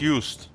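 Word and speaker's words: Joost: Yes, ju is a traditional masculine given name primarily of Dutch and Fzian origin pronounced used.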